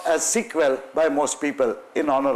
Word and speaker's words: SQL: a structured English-like query language, SEQUEL, which is pronounced as SQL naturally, which was subsequently standardized through an international standard organization, and that is now called SQL. It is still pronounced as SQL by most people in honor of the original one.